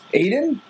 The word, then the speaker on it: Edden: okay so okay then well and then it's pronounced Eden well it's spelled a d e a living